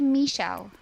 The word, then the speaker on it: Michele: It's actually Michele. If you really want to be, I thought this is easy. You're not even from another country. I'm gonna nail this. The Beatles song. It's Michele, my belle.